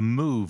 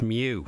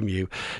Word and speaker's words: mu: asking about that variant of uh interest the move variant what's the latest i'm very disappointed i thought you knew greek letters it's mew it's pronounced because it's a greek letter yeah